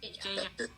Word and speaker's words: Jay Jai: So J is pronounced J-Jai, like that? Yes. J-Jai.